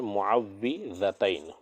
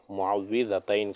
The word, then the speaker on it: معوذتین: کے آگے ہے معوذتین، معوذتین، اس کا صحیح تلفظ کیا ہے؟ معوذتین۔ کسے کہتے ہیں؟ سورہ فلق اور سورہ ناس کو معوذتین کہا جاتا ہے۔ تو اس سورہ کے تعلق